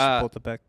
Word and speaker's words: Chapultepec: It's Chapultepec. Chapultepec. Oh, Dan knows how to pronounce something.